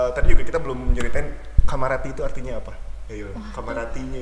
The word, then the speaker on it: Kamarati: Tapi actually pronounce-nya Kamarati adalah Kamarati, nggak Kamarati. Tapi ada kok yang bilang kayak gitu, Kamarati gitu. Aku baru tahu itu, dan yang nge-pronounce itu orang Solo loh. Dan aku jelasin itu pronounce-nya Kamarati bukan Kamarati.